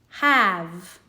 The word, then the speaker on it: have: A child in kindergarten has probably learned that H makes the /h/ sound, A /ă/ V /v/ have. Now, that silent E is there.